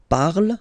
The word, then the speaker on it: parle: So remember, we put it, okay, but then we don't really pronounce it.